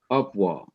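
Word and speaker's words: au revoir: a quick e sound like in the french word artwa it's spelled a u r e b o i r and you pronounce it so fast that you say or arvoir or it's like in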